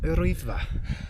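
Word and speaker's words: Yr Wyddfa: Hi, my name is Alice Jones and we are climbing up Rwyddfa. Oh, thank you very much. Now that's how it's supposed to sound.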